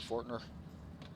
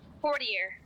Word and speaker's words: Fortier: Is it Fortner? Fortier. Okay.